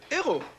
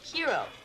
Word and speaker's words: hero: a huge sandwich yeah it's also a french word ero yeah but in english we pronounce the h hiro how do you pronounce